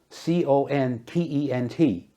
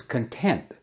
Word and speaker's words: content: C-O-N-T-E-N-T. Pronounced content means satisfied or happy. She was content with her life.